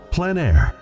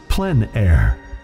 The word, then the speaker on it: plein air: of outdoor painting called plein air the French coined the term which means open air or outdoors the French pronounce it plenn air others say plein air no matter how you